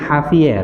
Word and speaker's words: Javier: Si Javier ini bacanya Javier ya.